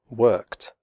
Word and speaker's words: worked: After unvoiced sounds such as k, p, f, and s, the final ed is pronounced like t, as in the word hot.